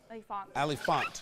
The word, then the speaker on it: Elefant: Elefant. Elefant. Elefant. It has an A, but it's not like a long A.